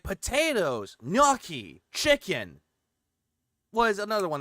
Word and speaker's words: gnocchi: Yeah, because I always call it nochi, but then I had it corrected. It was gnocchi.